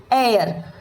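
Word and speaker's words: heir: तो इन सारे वर्ड्स में एच जो है शुरुआत में ही है और आप देखो तो इस तरह से यहां पे ओ भी है।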